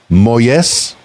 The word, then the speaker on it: Molles: Uh give the people an idea and I'm going to probably mispronounce your last name. Miguel Moyes.